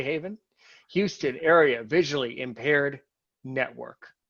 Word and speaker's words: HAVIN: speak to the president of haven pronounced how anyone should say haven houston area visually impaired